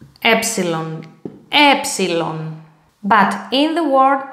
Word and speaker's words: epsilon: Okay, the letter epsilon, uppercase, lowercase, like this. And the pronunciation epsilon, epsilon.